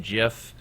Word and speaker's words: GIF: we use we have gif or sometimes they were pronounced jiff we have JPEG there's